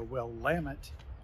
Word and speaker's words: Willamette: Hello there, we're coming to you from McMinnville, Oregon, in the Willamette Valley.